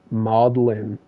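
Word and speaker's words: maudlin: It's literally it's spelled m a u d l i n modin.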